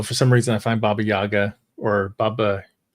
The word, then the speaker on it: Baba Yaga: and then also for some reason I find Bobby Yaga or Baba how you pronounce ITA yeah Baba Yaga yeah that's how you pronounce it as Lost